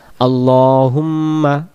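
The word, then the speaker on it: اللهم: আপনি প্রশংসিত এবং সম্মানিত এরপরে আমরা বলি আল্লাহুম্মা আল্লাহ আল্লাহ হবে না আল্লাহ আল্লাহুম্মা বারিক আলা মুহাম্মাদ মুহাম্মাদ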